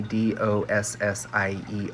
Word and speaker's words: dossier: something called a dossier it's a french word so it's spelled kind of funny d-o-s-s-i-e-r dossier and that is just